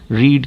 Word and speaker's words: read: रीड की third form जो है वो स्पेलिंग सेम रहती है, लेकिन इसका प्रोनाउंसिएशन हो जाता है रेड। सेकंड भी रेड और थर्ड भी रेड। फर्स्ट को हम रीड पढ़ते।